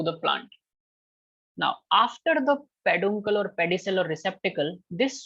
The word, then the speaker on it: peduncle: Sir, can you Apart- pronounce the other name for receptacle? Receptacle, peduncle, P-E-D-U-N, peduncle, Thank you, sir.